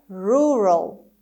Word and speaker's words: rural: The second word is rural. rural rural. خب استرس این کلمه اول هست و میبینید صدای او کوتاه داریم و ای قبل از ال رو به شکل شوا تلفظ میکنیم.